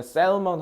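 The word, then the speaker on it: salmon: 자, 그러면 그 외에 아, 참고로 이제 여기 셀먼 너네 셀먼 하면 이제 혹시나 듣기해서 못 들을까 봐. 자, 연어죠. 연어. 어, 발음은 애를 발음하시면 안 돼요. 발음하셔야 됩니다.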